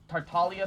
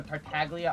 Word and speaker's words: Tartaglia: um also crosstalk why do you call him tartalia sometimes or tartaglia others uh i know it's supposed to be